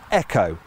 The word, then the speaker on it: EcoSport: little bit confusing because when Ford uses the letters e o and puts them before the word boost it pronounces them as Eco as in EcoBoost that's what it calls its engines however when it takes those same letters e c o and puts them before the word sport pronounces them as Echo as in echos sport now we'll come